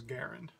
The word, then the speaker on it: Garand: the description ok m1 grand or I i believe the credit correct pronunciation is garand um but because I've